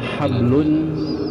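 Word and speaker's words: حبل: konsep yang pertama adalah hablun minallah hablun itu kalau kita baca lengkap ibu kita kalau kita bacanya kalau kita bacanya dengan ee mensukunkan ya mensukunkan huruf terakhir maka bunyinya jadi habl habl itu artinya adalah tali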